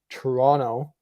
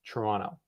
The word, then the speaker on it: Toronto: with the wta in toronto and if you wondered how it was pronounced that's how it's pronounced toronto not toronto i don't know we're